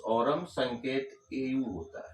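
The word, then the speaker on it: Aurum: इसका pronounce ऑरम, संकेत एयू होता है।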